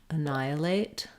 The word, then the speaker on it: annihilate: the word annihilate um annihilate so we have second syllable stress here that means letter a is going to be vowel schwa unstressed sounds like uh and then we have